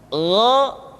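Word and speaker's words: غ: Diucapkan seperti kita mengucapkan huruf Kha, yaitu diucapkan dari pangkal tenggorokan kita.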